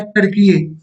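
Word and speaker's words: Türkiye: बट इसको टर्की नहीं, इसका पहले नाम था तुर्की, अब हो गया है टर्कीये।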